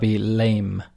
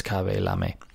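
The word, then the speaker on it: Khaby Lame: is k-h-a-b-y and lam-a-l-a the typical pronunciation perhaps in english would be lame that's how we pronounce l-a-m-e but i'm sure it's kavelam anyway he is the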